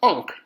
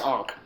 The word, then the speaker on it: ankh: And shocker, it's pronounced Ankh, A-N-K. Again, just like the previous one was A-H-A. So that's Ankh.